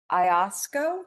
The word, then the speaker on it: Iosco: I've also got a great person in, I don't know how to say it, Iosco County.